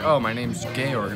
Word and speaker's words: Georg: No, it looks like it's George without the E at the end, but it's pronounced Georg.